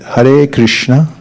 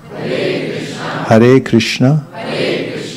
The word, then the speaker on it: Hare Krishna: from today's seminar and it is pronounced like this I'll say two words at a time please repeat Hare Krishna Hare Krishna Krishna Krishna are they